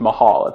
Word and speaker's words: Mahal: i'm really excited to hear his upcoming project mahal that's how it's pronounced sado would come my way it's fire